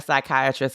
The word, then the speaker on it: psychiatrist: can't you hear a psychiatrist go to the bathroom? Okay, now I'm hoping because you shut the door. Because the P is silent.